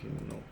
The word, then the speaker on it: inox: How do you pronounce it? Inox.